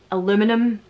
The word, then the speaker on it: aluminium: Aluminium. Aluminium. We call it aluminium. Aluminium is just, you're not pronouncing the letters, that, you know, the way that...